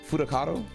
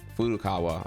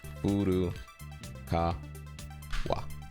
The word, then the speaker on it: Furukawa: Fudakato, is that correct? All right, the three people we care about. Oh, I might be getting his name wrong here. Furukawa.